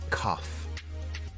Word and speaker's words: cough: you have a cough the word cough has an unusual pronunciation instead of a g sound we have an F sound here do you have a cough and the medicine for